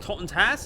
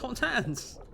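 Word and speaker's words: Totentanz: It's not pronounced Tottentas, it's pronounced Tottentans.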